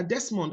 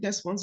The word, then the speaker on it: Desmond: And he said, every time, the laws of English is this, every time you see an S before an M, it's actually pronounced as Z.